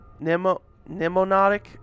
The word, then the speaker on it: mnemonic: Mnemonic. I think the M is silent or something.